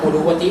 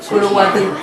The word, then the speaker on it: Curuguaty: Tampoco sé pronunciar muy bien la I guaraní, entonces yo digo Curuguatí, pero la gente que no sabe decir bien puede decir por mí. Y así Curuguatú.